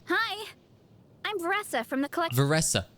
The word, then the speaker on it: Varesa: her name hi I'm vessa from the colle vessa okay it's vessa not verisa my bad what about in Japanese